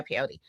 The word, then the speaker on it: peyote: And then you threw up like you tried peyote or something. Is that how you say it? Is it pod? Pey. Yeah, peyote.